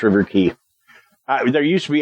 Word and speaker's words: River Quay: key River key yeah it's pronounced River key uh there used to